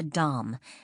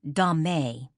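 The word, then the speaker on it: domme: Generally, a female dominant is referred to as a dom, spelled differently but pronounced the same way as dom, though some people will say dame.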